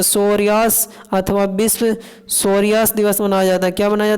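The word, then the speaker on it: psoriasis: प सोरियास अथवा विश्व सोरियास दिवस मनाया जाता क्या मनाया जाता ब विश् सोरियास दिवस अग यहां पर पी साइलेंट था इंटरनेशनल फेडरेशन ऑफ सरा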